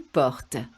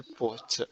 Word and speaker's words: portes: Tu portes. Tu portes. Again, remember the S is silent, so it's very, very similar.